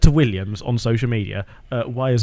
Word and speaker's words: Williams: No, say it correctly. It's Williams.